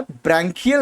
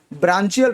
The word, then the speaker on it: branchial: उसे कहा जाता है ब्रैंकियल रेस्पिरेशन या फिर ब्रांचियल रेस्पिरेशन। आप बोलें कुछ भी, बट उसकी स्पेलिंग आप ये लिखेंगे BRANCHIAL।